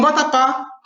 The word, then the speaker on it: vatapá: Então, vatapá termina com A e a sílaba tônica é esse pá. Então, ele tem acento.